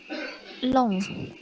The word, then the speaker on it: lent: Kemudian ada long, LENT itu dibacanya long.